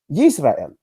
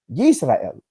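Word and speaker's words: ישראל: And here we have the example of how this Hebrew phrase was literally pronounced Yisrael. Now, how does the Masoretic text render it, and how is it pronounced? It's pronounced Yisrael.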